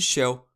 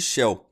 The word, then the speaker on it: Chell: Não fica claro se a música fala de Shell, pois a pronúncia de Shell é praticamente a mesma de céu em italiano.